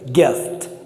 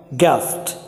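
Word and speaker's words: guest: ये है कैस कैस, जी यू, यहाँ जी के बाद में यू है फिर भी गई बंद है, गेस्ट गया गेस्ट, गिल्टी ग्लव ग्लव्स होता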